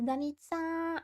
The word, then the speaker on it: Danita: My name is Danita. It rhymes with pizza.